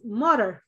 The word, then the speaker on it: modern: Number two, the pronunciation is modern. Modern. Got ma? Modern. Modern. And you actually say that in, but you don't hear it. It's not a real strong in.